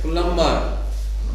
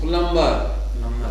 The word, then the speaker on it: plumber: Plumber. B is not pronounced. Plumber.